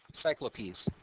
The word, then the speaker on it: Cyclopes: Greek in any case the plural of Cyclops is actually pronounced cyclopes in English Okay so uh I